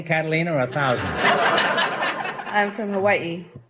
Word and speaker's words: Hawaii: I'm from Hawaii. Hawaii? Is that the correct pronunciation? I thought it was Hawaii.